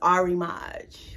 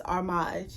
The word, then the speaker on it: Armage: mods come from um armage if you look it up on google is arimage whatever you want to say but it's armage that's how i pronounce it and it's really